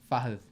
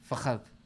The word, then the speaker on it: Fahad: The D is a soft pronunciation. The tip of your tongue touches the bottom of your front top teeth. Fahad. Yeah. Fahad.